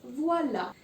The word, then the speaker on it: voilà: It's voila. And you see that there's an accent grave over the letter A, but there's no change in sound.